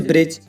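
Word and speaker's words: bridge: अब इसमें देखो गाइस, डी के बाद जी है तो डी साइलेंट है। ऐसी और भी एग्जाम्पल है गाइस, जैसे ब्रिज, ब्रिज माने पुल, हैज, हैज माने बाड़ा, बैज, बैज माने बिल्ला और फज, फज माने ठगना।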